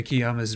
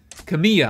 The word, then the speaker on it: Kamiya: better tune into kiyama's radio show next time and check kamiyah i keep saying it wrong kamiya call me